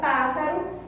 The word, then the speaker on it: pássaro: E aqui, ó, última, penúltima, antepenúltima. Se é a antepenúltima, é uma proparoxítona, ok? Então apenas a palavra pássaro se enquadra nessa classificação.